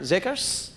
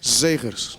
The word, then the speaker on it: Zegers: Our next guest to the program is Chris Z. Did I say it right? Zickers. Zakers. Zickers. Hey, I was close.